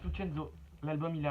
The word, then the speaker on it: Lucenzo: Lucenzo, on parce que ça se prononce Lucenzo.